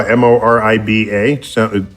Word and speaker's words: Moriba: Okay, Morba Jaw, Moriba. Yes.